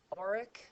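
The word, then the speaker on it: auric: at pronouncing this but I think it's oric is the best way to pronounce that no RS because we're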